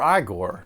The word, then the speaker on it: Igor: The one with James McAvoy as Victor Frankenstein and Daniel Radcliffe as Igor, or EyeGor, depending on how you pronounce it. But they told me it was Igor.